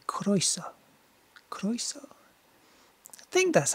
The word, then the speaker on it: croeso: Except we're doing Ren today, and Ren is Welsh, so perhaps I should say croeso.